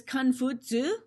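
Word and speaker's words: Kong Fuzi: okay so um again his name is khan futsu we call him confucius just because westerners couldn't really pronounce this in the correct way he's a real person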